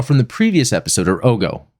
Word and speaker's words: Ogo: The Ogos, which we saw from the previous episode, or Ogo, it's pronounced Ogo, those capsule-like things that are the answer to the Federation ball.